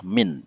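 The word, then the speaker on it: مِن: Nah, kalau nomor 4 ini karena dia ada sambung dengan aina ya, mana, maka ini bacanya adalah min ya, min bukan man.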